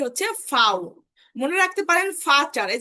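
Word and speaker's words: Vater: মনে রাখতে পারেন ফাটার, এই যে ফাটার, ফাটার মানে হচ্ছে বাবা। ফাটার মানে বাবা। এই যে ভি, ভির উচ্চারণ কিন্তু ফাও।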